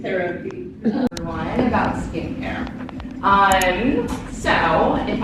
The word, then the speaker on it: CeraVe: So it is CeraVe, that is how you say it. And why it's CeraVe is because it's a combination of the two kind of core technologies within our formula. So it's ceramide, so it's CERA, and then the VE